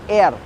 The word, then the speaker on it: R: Now R is pronounced as air. Now the pronunciation is very similar to the English word air, which is A-I-R, air, but you just have to say it out with a different accent, I should say.